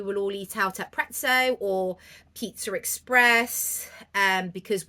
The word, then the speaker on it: Prezzo: I call it pretzo because it's spelled like pizza and it's Italian but I know most people call it Prezzo and actually I am